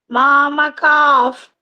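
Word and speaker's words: मामकाः: ಸೊ ಇದು ಪ ಇರೋದ್ರಿಂದ ಒಂದು ಎಫ್ ತರ ಸೌಂಡ್ ಬರುತ್ತೆ. ಮಾಮಕಾಫ್ ಪಾಂಡವಾಶ್ಚೈವ. ಮಾಮಕಾ Pandava. Mama calf. This pa will be pronounced as half F tara.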